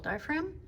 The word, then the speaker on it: diaphragm: How do you spell diaphragm? D-I-A-P-H-R-A-G-M. That's that sneaky silent letter that absolutely makes a difference.